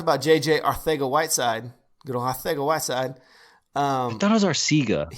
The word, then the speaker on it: Arcega-Whiteside: No, it's Arcega because that's how it's pronounced. It's pronounced like Mike Tyson would say it. That's seriously the best way that somebody explained it to me.